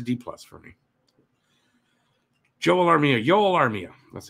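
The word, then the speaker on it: Joel Armia: that it's a d-plus for me joel armenia yolo armia that's how it's pronounced d-plus 60 games six goals eight assists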